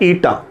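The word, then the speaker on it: eta: Coefficient of viscosity, और इसका जो सिंबल है ये है इस सिंबल को हम प्रोनाउंस करते हैं ईटा, ITTA, ईटा।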